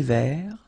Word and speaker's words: vert: Final T not pronounced. Un thé vert.